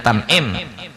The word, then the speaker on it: Tan'im: Di sini bacanya Tan'im.